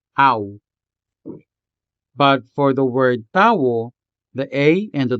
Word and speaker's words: tao: Tao has two syllables, ta and wo, tao.